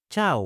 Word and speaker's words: chau: Fun fact: in southern Latin America, people say chau, while in the north, people say chao.